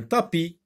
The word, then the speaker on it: tapis: Et là, vous avez une lettre muette qui ne se prononce pas.